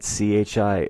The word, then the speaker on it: chi: It explains that CHI is pronounced like key, spelled KI.